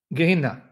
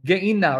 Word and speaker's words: Gehenna: So he doesn't pronounce the breathing sound, Gehenna, he'll go Gehenna. He'll emphasize where he sees that little sign on top of the word, the apostrophe. He won't do a breathing sound.